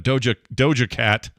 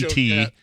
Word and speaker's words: Doja Cat: This is called TMS Mashup Doja Cat, SPT. Dojo Cat. This is an SPT, which is, or Dojo Cat. Scott pronounces things?